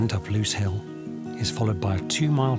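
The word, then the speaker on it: Lose Hill: It's spelled L O S E. LSE L. It's pronounced Loose Hill.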